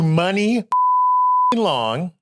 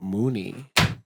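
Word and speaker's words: Muni Long: That's how you say her name. Money long. What do you thought? I was saying it. Mooney. Stop podcast everybody. Nobody ever said it out loud. It's money long.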